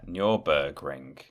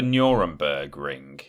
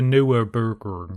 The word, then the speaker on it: Nürburgring: Yeah, Nürburgring. It's not the Nuremberg ring, is it? I don't know. No, of course it's not. It's the Nürburgring. Nürburgring. Yes. That's how you say it.